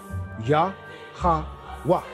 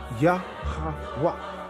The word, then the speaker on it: Yahweh: Yah-ha-wah. Yah-ha-wah. Again, like the brother say, when some people pronounce it real fast, they would say, who?